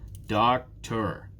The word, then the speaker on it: doctor: Doctor. Which one is stressed? The first one.